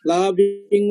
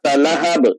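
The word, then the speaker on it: لهب: এখন ইয়া যেটা শোয়েব যেটা বললো থামলে কি না থামলে কি, যেমন এই যে লাহাব, আমি যদি থামি তাহলে এটা পড়তে হবে লাহাব। থামা সবসময় জজম হয়, জজম জজমের মতো উচ্চারণ।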